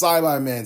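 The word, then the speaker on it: Saibaman: seed, until she just straight up said it's Saibai-Man seeds. And yes, that's the correct way to pronounce it.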